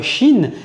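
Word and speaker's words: شين: Maintenant, passons à la lettre chin qui va partager la même base d'écriture. La lettre chin, c'est comme le ch en français lorsqu'on va dire le mot chien ou le mot chat.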